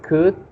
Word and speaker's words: could: Remember the words we could, the I would. You don't pronounce the L.